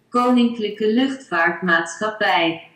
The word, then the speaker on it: Koninklijke Luchtvaartmaatschappij: Gua gak ngerti cara bacanya gimana, tapi kalau kata Google Translate, bacanya kayak gini nih. Koninklijke Luchtvaartmaatschappij.